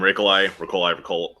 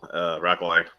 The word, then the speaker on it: Rakolai: Hey everyone, I'm Rakolai. Rakolai. I don't even have preference on how you say it.